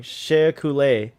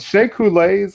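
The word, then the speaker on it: Shea Couleé: did i say it i said i said the name wrong shay coulee shake who light is yeah shay coulee and look at this like cool outfit and everything like but shake who lays uh only fans like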